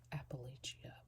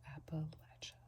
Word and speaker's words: Appalachia: I always say Appalachia, but clearly that's wrong. So Appalachia.